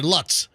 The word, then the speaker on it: Lutz: George Lutz I'm sorry Lutz I'm saying I'm pronouncing it like uh like where Fester lives uh but it was